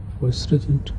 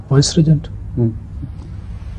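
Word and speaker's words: vicegerent: God is born, the vice, how do you pronounce it? Viceregent. Huh? Viceregent.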